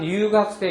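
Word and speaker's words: 留学生: 고간 류학생, 고간 류학생. 여러분 요 류 발음을 잘 안 하면 그냥 고간 류학생 이렇게 돼버려요. 그러니까 이 혀를 많은 류 발음을 좀 기억을 해서 내주세요.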